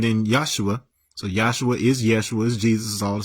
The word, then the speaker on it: Yeshua: J works because that's pronounced ysep and it's pronounced Yeshua it's pronounced it's not Jesus it's Yeshua which